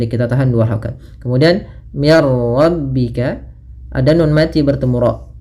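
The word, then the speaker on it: من ربك: Maka di sini langsung ke ro tanpa lagi terdengar suara mim nunnya. Ya. Maka mirar mirar. Minnya tipis rnya tebal. Mirarro. Maka mirbika. Tapi tidak disai dengan gunah.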